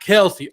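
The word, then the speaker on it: Kelce: You got Kelsey or Kels. However you say his name now, because he says we're saying his name wrong.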